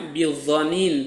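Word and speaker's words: بظنين: Nah, ada yang membacanya bidhanin pakai dod, ada yang membacanya bidhanin pakai zo ya.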